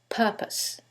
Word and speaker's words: purpose: However, in the first one, it's the second syllable that's stressed, and in the second one, it's the first syllable, and that changes the pronunciation completely. The first word is propose, and the second word is purpose.